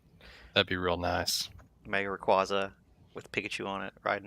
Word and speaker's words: Rayquaza: be real nice mega Rayquaza with Pikachu on it riding him it's actually Rayquaza um bunch of people that uh have been pronouncing it wrong this whole time where the hell Cobra